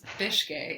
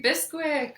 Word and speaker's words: Bicskei: listening to the podcast if you ever wanted to know how to pronounce my last name it's fish gay yeah mine is always